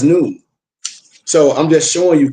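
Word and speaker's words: نون: That's why I use the Arabic letter none pronounced as noon.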